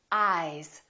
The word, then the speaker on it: eyes: Ice, eyes. Listen to the difference. Ice, eyes. This S is actually pronounced as a Z sound. This is actually Z, Z. This is voiced, and S, this is voiceless.